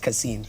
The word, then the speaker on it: Kasim: a a kasim that that is pronounced casin yes this week's question